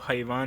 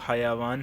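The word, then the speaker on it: حَيَوان: اس کا ہوتا ہے، اردو میں حیوان ہم کہتے ہیں لیکن وہ حیوان نہیں بلکہ عربی میں وہ حیوان ہے، یا کے اوپر بھی زبر ہوتی ہے.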